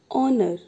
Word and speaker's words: honor: It means in this word H is silent, like first word honor, H is silent.